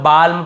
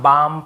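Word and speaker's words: balm: बोल देते हैं बहुत काल्म बालम पाल्म नहीं होगा काम बाम पाम और आमंड ऐसे आलमंड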